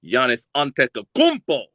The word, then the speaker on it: Giannis Antetokounmpo: his his whole name right but I can pronounce it correctly Giannis antetokounmpo you know what I'm saying what is it